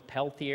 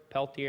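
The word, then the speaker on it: Peltier: been trying um and I always pronounce this wrong as pelti a cooler pelti a cooler it's a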